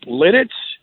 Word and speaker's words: Lititz: you're a PA guy maybe you know lititzer Pennsylvania you know what and it's really funny too because it was like it you know I just recently found out it's Lititz you could get in